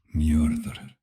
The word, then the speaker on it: Njörður: In Old Norse, it is Njörður.